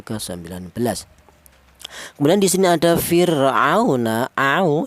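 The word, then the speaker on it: فِرْعَوْنَ: Kemudian di sini ada fir'auna, di sini ada wawu mati, di mana wawu mati ini didahului huruf yang berharokat fathah, ini dibaca lin juga ya, lin.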